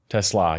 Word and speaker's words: TeSlaa: TeSlaa, yeah. It's like te with slaw on the end.